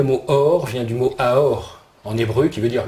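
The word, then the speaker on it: אור: En plus, ce mot, il se prononce autrement, il se prononce aour aussi, comme amour.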